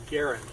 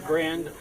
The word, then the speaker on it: Garand: fact that the uh gar Garen family pronounces the name Garen uh me know disrespect